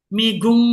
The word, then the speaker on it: 미국: J ketemu N itu kan bacanya eng. Makanya kalau kita pelan-pelan miguk New Yorgeso gitu ya. Miguk New Yorgeso. G-nya ke sebelah. Geso. New Yorgeso. Kalau mau baca cepat Migung New Yorgeso. Migung jadinya. G ketemu N itu eng jadinya.